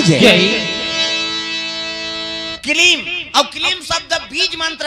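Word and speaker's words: क्लीं: कलीब काला कथे कर मतलब नहीं जाना थे ना सुदर्शन, लेकिन कलीब शब्द सुंदर और कलीब सुनी तक कलीब कलीब कहा तो किलीम होगी।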